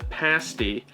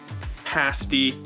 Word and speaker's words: pasty: the u.p is the pasty and it is important that you pronounce it correctly pasty not pasty that's a completely different